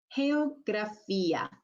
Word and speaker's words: geografía: So you can see there's quite a difference here in how we're pronouncing these two G's in Spanish. The first one is a H sound, and the second one is the hard G sound. So geografía. If you need a little